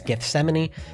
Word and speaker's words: Gethsemane: And I have also listened to Gethsemane. Butchered that in the first reaction. Had no idea how to say that, but you guys let me know. It's Gethsemane.